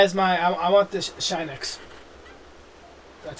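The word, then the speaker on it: Shinx: I want the Shinex.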